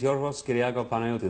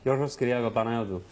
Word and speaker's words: Yorgos Kyriakou Panayotou: My name is Yorgos Kyriakou Panayotou. That's really how it's said. It's wonderful. Yorgos Kyriakou Panayotou.